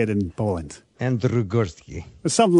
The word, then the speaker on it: Andrzej Górski: because I know that you've Americanized your name, Andrew Gorski, for me. But just give everyone a chance to hear it how it should be pronounced. Yes, I did. I just wanted to make your life a little bit easier. And you are. My true name is Andrzej Górski.